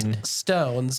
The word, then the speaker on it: Flintstones: until I actually seen Flint Stones doesn't roll off the tongue but Flint stones yeah so it makes sense that it is Flint Stones because Flint as in the stone yeah are we correct